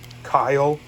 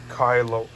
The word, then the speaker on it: Kylo: to see one look kyle no it's pronounced kylo hey welcome to the